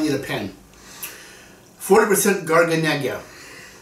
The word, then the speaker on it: Garganega: a pen forty percent garganega gargant garganega it's pronounced twenty percent trebiano toscano five